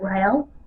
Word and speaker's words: Riel: foreign I think that's how you say it Rael in early 1934 she